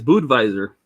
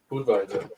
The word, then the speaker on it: Budweiser: yeah you're right because it's German just like just like Budweiser's Budweiser but nobody says that either it's it's boot visor Bo visor oh and by the